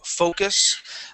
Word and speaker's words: focus: I do want to make sure, you guys, that you pronounce that O right. Okay. In this word, focus.